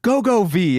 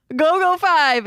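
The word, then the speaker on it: GoGo V: V it's five I was hoping you'd be go go V is stunningly stunningly good from I mean they did say V so but it's pronounced five but why isn't it V man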